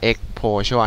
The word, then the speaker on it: exposure: exposure เฟค นะ ครับ คือ คำ ว่า exposure เนี่ย ตอน แรก เรา อ่าน ว่า X exposure ใช่ ม อ่าน แต่ แต่ ไทย นะ แต่ ว่า ไป ถาม อากู มา ละ อากู บอก ว่า เฮ้ย มัน อ่าน ว่า exposure นะ ซึ่ง พี่ ก็